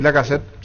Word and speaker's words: Lacazette: Veo que sus mayores son Lacazette del Olympique Lyon. No sé si así se pronuncia. Alexandre Lacazette. Sí, Lacazette.